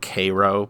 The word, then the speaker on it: Cairo: Apparently, they pronounce it Cairo, but spelled like Cairo Egypt.